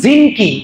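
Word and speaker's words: زنكي: শেষ হল সুলতান নুরুদ্দিন জিনকি আমরা অনেকে বলি নুরুদ্দিন জঙ্গি এটা ভুল উচ্চারণ জঙ্গিনা উনার পরিবারের নাম হল জিনক পরিবার সেখান থেকে উনাকে জিনকি তাহলে নুরুদ্দিন জঙ্গি না জিনকি জিঙ্গি আমরা কিন্তু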